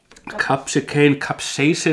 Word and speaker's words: capsaicin: how do you pronounce it?] Capsaicin they say in english, [it is amongst other things used as a sedative] Yeah...